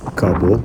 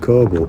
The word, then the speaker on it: coble: They're sailing cobble or coble. It's pronounced coble.